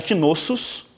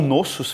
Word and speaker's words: Knossos: pelos aqueus, a cidade de Knossos, tá? Ou Nossos, se você não quiser pronunciar o S, e a cidade de Troia.